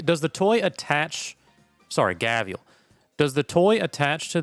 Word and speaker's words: gharial: says it's tier four oh there it is pronounced gaviel okay buy choose one level one toy from